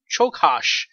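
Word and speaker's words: Csokas: So that's why, okay, I actually said his name wrong. Chokash.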